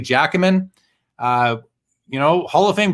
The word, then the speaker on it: Giacomin: A lot of people who don't know hockey don't know how to say it. I think I know how to say it. I believe it's Eddie Giacomin.